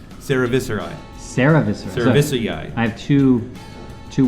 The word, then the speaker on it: cerevisiae: And this one is Saccharomyces cerevisiae, Saccharomyces. which is top fermenting ale yeast, which came up in the conversation earlier. I think your point scale is What? vastly Viscerae? Cerevisiae.